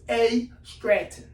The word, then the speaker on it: AStratton: So I tell them it's AStratton. So what do people call you? AStratton. Most people call me AStratton.